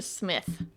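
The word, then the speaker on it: Psmith: On February 5th, we will discuss Leave It to Smith by PG Woodhouse. Yeah. Which is spelled P S M I T H.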